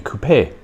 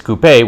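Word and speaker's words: coupé: with a cut back the French for to cut being Coupe e but uh when it is cut something has been cut it is coupe with you know e with an accent yet in America in the United States they say Coupe I very curious if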